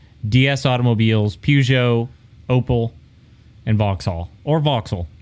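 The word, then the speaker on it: Vauxhall: Romeo Lan Citron DS automobiles PUO opal and voxul or voxel right voxel yeah voxel yeah just a bunch of automobiles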